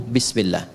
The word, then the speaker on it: bismillah: Asalnya ini ada alifnya di sini dari kata ismun. Begini. Asalnya bismillah. Dibaca nyambung bismillah. Dan cuma di Bismillahirrahmanirrahim alifnya hilang.